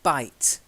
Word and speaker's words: bite: To bite. To fight. Yeah, not Bite. pite, bite with a B.